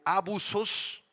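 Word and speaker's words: ἄβυσσος: Abismo hermanos proviene del griego abusos con acento en la a y doble s al principio abusos significa literalmente pozo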